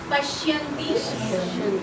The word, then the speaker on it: পশ্যন্তি: মধ্যমা বৈধ এটাই বলবে উচ্চারণটা হচ্ছে পরা পরা পশ্যন্তি পশ্যন্তিটা ভালো করে আসবে পশ্যন্তি পশ্যন্তি বলিন্তি మధ్య মধ্যমা